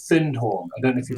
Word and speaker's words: Findhorn: Aetherius Society was a community in Scotland called Findhorn.